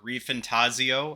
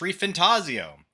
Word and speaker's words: ReFantazio: uh today on the docket we got metaphor reantaso as I've learned it is not called reantaso as I said before it is pronounced ref fantasio as it is spelled because it is potentially